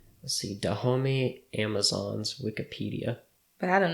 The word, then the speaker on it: Dahomey: Dahomey? Dahomey tribe.